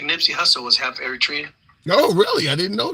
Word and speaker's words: Eritrea: Moving the program on, we'll go to Captain Eritrea. I'm assuming I'm pronouncing that right. We'll get a clarification on that. Captain, good afternoon. How do you pronounce that other part? Eritrea, that's the country I was born in.